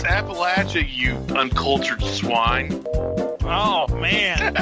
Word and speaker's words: Appalachia: Is that how you pronounce it in Appalachia? It's Appalachia, you uncultured swine.